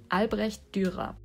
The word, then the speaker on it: Albrecht Dürer: They are named after a German artist that was born in the 1470s, and his name is Albrecht Dürer.